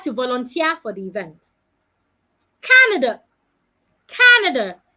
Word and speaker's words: Canada: volunteer for the event Canada Canada I'm stressing the first part not Canada Society Society